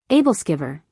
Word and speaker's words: Æbleskiver: Æbleskiver, pronounced Æbleskiver, are traditional Danish spherical pancakes, often enjoyed during the Christmas season.